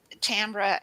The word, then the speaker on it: Tambra: Am I pronouncing it right, Tambra?